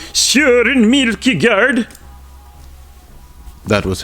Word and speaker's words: Kierkegaard: I shall be today performing a reading for you from my phenomenal essay, Desolation, Redemption, Kierkegaard, Nietzsche, and versus the Enlightenment.